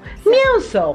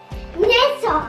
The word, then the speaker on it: mięso: Mięso, perfect. Remember the E with the tail? It's M. Mięso.